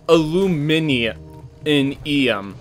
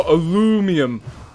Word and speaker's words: aluminium: a sec that's brit we say oh illumini in eum yeah americans go alumium um god i can't